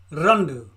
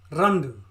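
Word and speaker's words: രണ്ട്: una see that for me una two is Rhonda Rhonda Rhonda Rhonda three is Munna Munna Munna Munna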